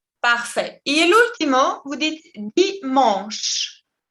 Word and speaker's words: dimanche: Et l'ultimo, vous dites dimanche. Il ne se prononce pas la E finale. Dimanche. Et la CH, en français, sempre se prononce ch. Ch. Dimanche.